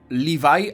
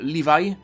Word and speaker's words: Levi: The word can be pronounced livajai, or you can pronounce Levi, but if I hear